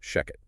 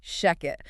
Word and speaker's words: Shechet: And uh just to be absolutely clear right off the bat, that is pronounced Sheket. Yes, exactly. Sheket.